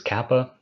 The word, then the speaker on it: kappa: This is kappa, always the hard C in cat or a K in kangaroo. Not soft or whatever, it's a K sound.